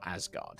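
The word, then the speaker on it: Ysgard: as well as a planet called ysgaard or asgard it would be pronounced um alfheim is located close to the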